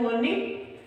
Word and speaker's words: mourning: तो आपको स्पेलिंग थोड़ी सी है वो उसमें ध्यान रखने वाली बात है, क्योंकि वो जो इसका प्रोनाउंसिएशन है वो सेम ही है, मॉर्निंग।